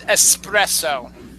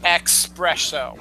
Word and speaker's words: espresso: more Greek but anyway but it's espresso not expresso so yeah and and